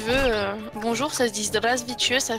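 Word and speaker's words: Здравствуйте: Si tu veux, bonjour, ça se dit Zdravstvuyte, ça s'écrit avec un 3 pour commencer le premier caractère, tu vois.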